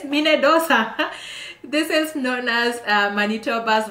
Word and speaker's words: Minnedosa: And there's another one called Minnedosa. I know it rhymes with Minnesota, but this is Minnedosa.